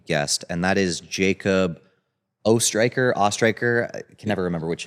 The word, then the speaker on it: Oesthreicher: And today we have a special guest, and that is Jacob Oesthreicher. I can never remember which it is. It's Oesthreicher. Oesthreicher.